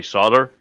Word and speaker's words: solder: that poor L just feels so neglected in the word solder. Yeah, it does. Okay, yes. Thank you, Martin. Yeah. That's enough. In North America, we have banished the L in the word soldering, and the Q is silent.